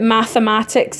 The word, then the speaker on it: mathematics: Now, the good thing about mathematics is you pronounce it all. You say all the letters. It's unlike marriage. You pronounce that E in the middle. The thing to remember is that it's an E. Because you say math, ma-tics. Okay, so you pronounce both of those A's. You pronounce it like an ick at the end.